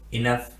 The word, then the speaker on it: enough: लेकिन कुछ स्पेलिंग ऐसे भी होते हैं जिनमें GH साइलेंट नहीं होता और GH का उच्चारण फा के रूप में किया जाता है, यानी F के रूप में किया जाता है।